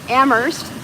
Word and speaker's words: Amherst: Amherst, the H is silent.